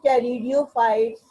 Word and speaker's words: Pteridophyte: These pteridophytes, they are further divided into Psilopsida, Lycopsida, this is Y, Lycopsida, Psilopsida, Lycopsida, Spinopsida, Pteropsida. In all cases, you can observe, you can see that the P is silent.